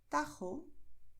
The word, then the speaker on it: Tajo: Por eso, en muchas zonas donde se habla el español, los nativos dirán Jalisco, Ojeda, Jipijapa, Tajo, Tajuña, Gerona, Gijón. ¿Ves? Es garganta, pero no estamos forzando.